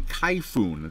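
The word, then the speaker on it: Kayfun: This is actually a Kaifun. That is the proper pronunciation of this atomizer.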